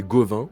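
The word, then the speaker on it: Gauvain: Gavin, Gawain, je sais pas comment prononcer, mais je suis pas sûr. Pas Le du nom Gauvin. français c'est Gauvin.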